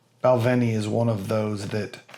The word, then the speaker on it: Balvenie: I have heard other people say it wrong, and if you didn't know, it's not the Balvenie. It's not the Veni or the Vin. It's the Balvenie.